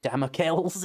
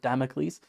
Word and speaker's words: Damocles: Said it like damels instead of Damocles.